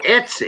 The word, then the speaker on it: Etsy: is that say it right let's see oh Etsy oh yeah Etsy it's something like eBay but yeah but he talks about eBay also um under certain people then he talks about Etsy on coins that are like ten thousand dollars